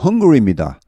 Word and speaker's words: Hungary: 영어 발음은 Hungary입니다. 배고픈 할 때 헝가리와 발음이 똑같습니다.